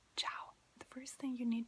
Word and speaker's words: ciao: you say hi ciao so it's we're gonna spell it right here and then show it to you so it's like c i a o ciao now you try to say it ciao